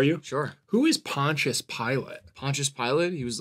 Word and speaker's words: Pilate: and whatever yeah sure it's Pontius Pilate and by the way it's spelled like pilate not like pilot like he wasn't a pilot yeah okay that was